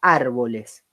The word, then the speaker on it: árboles: Fíjense la palabra árboles. La palabra árboles se separa árboles. Y la sílaba tónica es la A, porque yo digo árboles.